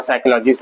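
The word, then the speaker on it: psychology: भी करते हैं और साइकोलॉजिस्ट बनते हैं, है ना। तो ये पी जो है साइलेंट है यहाँ पर, तो बोलेंगे इसको पढ़ेंगे साइकोलॉजी।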